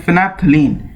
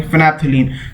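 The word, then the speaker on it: phenolphthalein: और एक और हमारा मोस्ट कॉमन है जिसे हम बोलते हैं फिनैप्थलीन। ओके, सो स्पेलिंग होती है इसकी PHENOLPHTHALIEN actually, not LI। Okay, फिनैप्थलीन।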